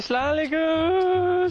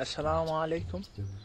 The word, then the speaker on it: assalamu alaikum: When you say salam, say it properly. Hey, Salaam alaikum. Salaam alaikum. Sorry. You say something. Yeah, say salam. You say salam. Say it properly. What would you mean, like assalamu alaikum?